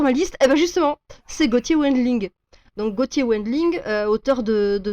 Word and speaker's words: Wendling: c'est Gauthier Wendling, le W se prononce comme un V. Ah, pardon, Wendling.